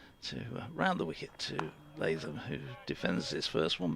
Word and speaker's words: Latham: Anthony showed me the surname Latham, as in New Zealand, is pronounced Latham. Latham. Latham? Well, they've gone on the third. It's Latham, rather than we'd say just run it all together, so it's almost like two words.